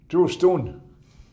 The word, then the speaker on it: Justine: And Justine, an uncle of mine, a son of Brutal Rock, his name would be pronounced True Stone.